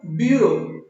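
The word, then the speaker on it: bureau: Spelling है B-U-R-R-O-W, ब्यूरो। एक होता है हमारा ब्यूरो, B-U-R-E-A-U, जिसका बहुवचन होता है ब्यूरक्स, B-U-R-E-A-U, ब्यूरो।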